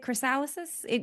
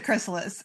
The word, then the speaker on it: chrysalis: It And just needs to how do you say it? Chrysalysis? We need to, it just wait, needs to, it's a chrysalis.